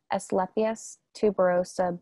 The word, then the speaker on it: Asclepias tuberosa: Should we remove the large pods that have formed in our Asclepias tuberosa butterfly weed? I heard this would encourage more flowering. I hope I pronounced it correctly.